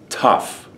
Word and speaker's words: tough: though then you get tough and this gh is pronounced as an F isn't that interesting you